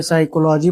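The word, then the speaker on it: psychology: यदि पी के बाद एस या एन लिखा हो तो पी साइलेंट रहता है। For example S साइकोलॉजी pneumonia यहां पी के बाद एस पढ़ा लिखा गया। इसीलिए इसे साइकोलॉजी पढ़ा गया। यहां पी के बाद एन लिखा इसे निमोनिया पढ़ा गया।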